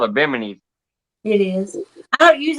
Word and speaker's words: bimini: do don't you i i say it wrong i caught the mini top and that's not how you say it it's called a bimini type if i have a